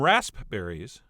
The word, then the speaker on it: raspberries: berries I have some rasp berries which I really think people should pronounce raspberries as well as some